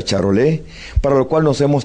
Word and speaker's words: Charolais: de ganado bovino cuyo nombre es charolais se pronuncia charol para lo cual nos